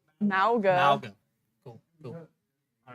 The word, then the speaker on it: Mauga: Malga? Mauga.